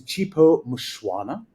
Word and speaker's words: Chipo Mushwana: Um, not too far away from where I'm sitting, is Chipo Mushuana. Uh, and I know that pronunciation is correct because I asked her before we started recording.